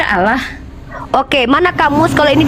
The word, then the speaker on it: Allah: Dalam bahasa Indonesia itu dibaca Allah.